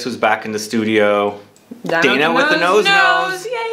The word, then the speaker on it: Dana: back in the studio Dana with the nose nose is it Donna or Dana uh they say Dana back home but apparently it's very hard to pronounce in America so I go with my day now I don't